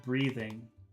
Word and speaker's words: breathing: the first language they they have a problem pronouncing the th sound in breathing so when she